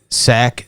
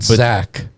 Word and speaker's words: Tsakanikas: So SAC 708. Yeah, not Zach, as Mario likes to say. I've gotten that right. If we get Andrew on here later, I'm still gonna bust on him and pronounce it with a Z.